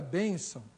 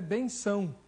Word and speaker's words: bênção: Mas o correto, da forma como nós pronunciamos bênção, tem que ter o acento no E, tá bom?